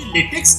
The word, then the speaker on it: LaTeX: तो लेटेक्स का स्पेलिंग अगर आप देखते हो तो LATEX है। जनरली हम उसको लेटेक्स बोलते हैं, लेकिन correctly it is pronounced as लाटेक और लेटेक।